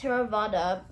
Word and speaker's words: Theravada: Number 1, Theravada, pronounced more or less Theravada, Buddhism, which is practiced by approximately 94% of the population, is the official religion of Cambodia.